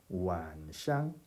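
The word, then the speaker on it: 晚上: 중국말로 저녁이 완샹이거든요. 자, 발음해 볼까요? 완샹 경상입니다. 완샹.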